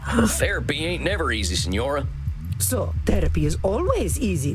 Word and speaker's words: signora: It is Senora. Senora. You know what, ma'am? You need to chill. Well, jeez, you don't have to be so mean. Then say it properly. Senora. Signora.